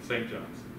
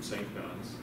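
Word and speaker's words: St. Johns: john's arizona why because they don't say it like that you say saint john's if you if you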